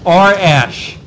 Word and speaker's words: Arish: It's two syllables, right? R. R. Air. R. R. Ash. Okay, I think I'm going to get it now. I think. It only took me a month, but R. Ash.